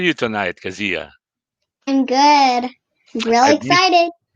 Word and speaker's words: Keziah: the correct spelling that's k-e-z-i-a-h pronounced at ask zia i'm doing this because when kazia makes it in the big time people would know how to properly uh pronounce your name is that correct kazia yes okay so i'm pronouncing it properly right at nine years old okay so i have been mispronouncing it all along oh my god kezia there you go so do we stress the zed kezia okay so we